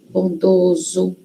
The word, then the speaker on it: bondoso: Então, ansioso, bondoso, olho, ovo. Quando é singular, tem som fechado, né? O. E quando vai para o plural, muda a pronúncia. Vira ó.